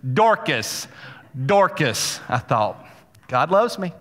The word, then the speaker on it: Dorcas: I look it up, the YouTube video pronunciation, Dorcas.